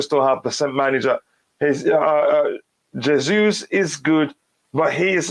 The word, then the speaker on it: Jesus: Like I said before, his name is Jesus. That's the correct pronunciation.